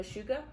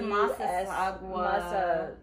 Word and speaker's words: Massasauga: and the mashuga. Uh-huh. We have those two. Is that how you pronounce it?